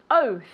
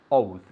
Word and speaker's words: oath: you go okay because even though it's o a you pronounce it as if it were o u okay oath okay and